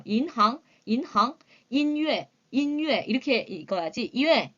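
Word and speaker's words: 银行: 이거 무슨 과목 자이 발음할 때 여러분들 첫 번째 단어에 끝에 모음이 n으로 끝나고요 두 번째 글자 시작하는 잠이 h나 혹은 y로 시작이 될 때에요 발음을 한국 사람들이 굉장히 뭉개게 그죠 뭉개서 발음을 하세요 왜냐면 우리 한국의 두음법칙이 있어서 그런지 조금 만약에 은행 할 때는 이렇게 얘기하세요 이항같이 들리는데 인항 끊어 살짝 끊는다 혓바닥으로 살짝 눌러준다라고 생각하시면 돼요 인항 인항 인류의 이렇게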